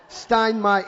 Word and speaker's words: Steinmeier: Steinmeier, M-E-I-E-R.